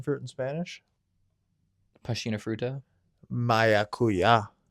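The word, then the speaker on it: maracuyá: Maracuya. Maracuya. Maracuya. Uya. I'm not joking. That's how you say it.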